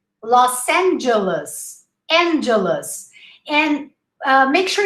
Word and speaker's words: Los Angeles: we would say right but not in english look los angeles try to say lost los angeles and don't forget the imaginary the los angeles los angeles or just say